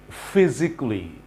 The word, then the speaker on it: physically: Physically, mentally, basically, financially, fantastically, normally, officially.